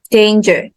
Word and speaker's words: danger: okay okay so and the first one is danger so where's the stress yes the first syllable danger okay and then kindness kindness